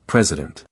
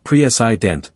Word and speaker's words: president: When it comes to the vowel, you can hear the schwa in words like president. Notice how the middle syllable doesn't stand out. It's not prei, but rather president where the central vowel becomes relaxed.